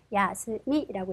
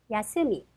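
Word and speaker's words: 休み: 야스미라고 읽고요. 악센트 표시는 야스미, 야스미가 됩니다.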